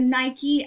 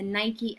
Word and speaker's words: Nike: so fantastic she is the Nike of Samothrace or you can pronounce it the Nike of Samothrace or you